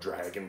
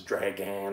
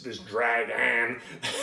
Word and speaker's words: dragan: say this word because I always call it dragon, but it's dragan, I believe. D-R-A-G-A-N. It's an old English term, that's where the term draft came from. Okay, so this dragan was invented, and it